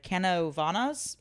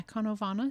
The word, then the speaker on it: Canóvanas: Canóvanas, actually. How How do you spell it? Uh a c a n o with a the thing, v a n a s. Yeah, Canóvanas.